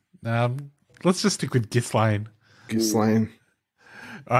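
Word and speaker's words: Ghislaine: not to but um gillane maxwell is how it's being pronounced uh by everyone on tv all right without the if so i just thought i'd get that in there gillene maxwell um let's just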